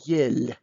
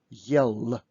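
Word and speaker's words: ел: there is a heart allah so do not pronounce this word with the soft do not say yell because it will be absolutely different word and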